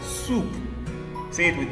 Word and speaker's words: soup: sound in soup s o u e spells soup soup say it with me soup say it